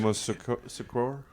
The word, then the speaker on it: Yamoussoukro: Showing me a picture of that in, how do you pronounce the administrative capital? The administrative. Yamoussoukro?